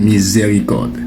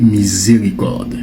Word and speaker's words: miséricorde: parce que quand vous le voyez, vous le prononcez miséricorde. Mais regardez bien le mot, ce n'est pas le son est, c'est le son e. Donc ce n'est pas miséricorde quand vous parlez le français et que vous